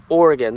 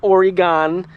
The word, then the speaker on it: Oregon: Oregon it the the this word here is pronounced Oregon not Oregon if you pronounce it Oregon you don't know